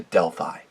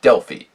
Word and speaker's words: Delphi: made their way to Delphi or Delfy either way you would pronounce it and upon sacking it's